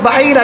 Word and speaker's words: বাহিরা: নাম কি তার নাম হচ্ছে বুহাইরা কি শুদ্ধ উচ্চারণ হচ্ছে বাহিরা কি বাহিরা রাহেব বাহিরা অনেকে বলেন বুহাইরা বুহাইরা নয় বাহিরা রাহেব একজন পাদ্রী ছিল বড়